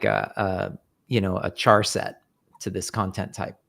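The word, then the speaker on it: charset: Char set UTF-8. And now this string here will be the string, char set UTF-8. Mm-hmm. Car set. Some people say it with a hard C.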